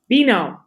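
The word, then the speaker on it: Beano: you spell that product veno it's like being with an o at the end all right b-e-a-n-o yes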